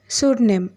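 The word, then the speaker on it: pseudonym: Next word சூட்நெம். சூட்நெம் சூட்நெம் அப்படின்னு என்னென்னா புனை பெயர் அப்படின்னு அர்த்தம். இங்கேயும் பியோட சவுண்ட் சைலண்ட்டில் போயிடும்.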